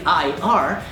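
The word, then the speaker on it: hier: So even though it's written like an IR, you need to pronounce it as if it was an E, because you pronounce I as E and E as I. So, I. And then a French R. R. I and R. Ir. Or you can just say here, but without the H.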